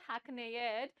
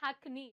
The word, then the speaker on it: hackneyed: It is not hackneyed, it is hackneyed. Y is silent here.